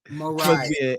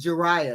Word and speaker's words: Jeriah: Well, they told me it's pronounced Jeriah, not Mariah. Not Jeriah. Just like Mariah except with a J.